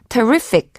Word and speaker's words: terrific: terrify랑 철자는 상당히 비슷하지만 강세가 terrific 두 번째 음절에 있고요.